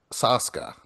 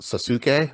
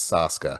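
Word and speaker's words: SASUKE: love Ninja Warrior Japan or as it's called Saska. Um, it it's when you look at it, it's you think it should be pronounced Suk, but it's not. It's Saska.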